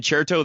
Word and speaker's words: Certo: And cherto, that's spelled with a C, c e r t and it's an Italian.